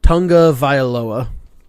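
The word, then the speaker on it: Tagovailoa: picked up on that I guess two pronounces his last name tonga vial OA would ya there's no N it's t AG is the first three letters of his name but he pronounces it Tonga viola ha so because I've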